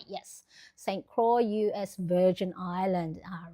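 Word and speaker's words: St. Croix: done Ronnie Catat I love that it is pronounced like Saint Croy. All right. Croy. St. Croy. Yes. St. Croy, US Virgin Island.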